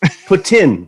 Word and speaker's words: poutine: real quick to cut you off what is poutine for tin is how it's pronounced okay yes you have to be put